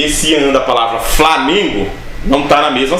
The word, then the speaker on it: Flamengo: Esse an não está na mesma sílaba, e é por isso que muita gente erra a pronúncia, fala Flamengo. Não é Flamengo, é Flamengo.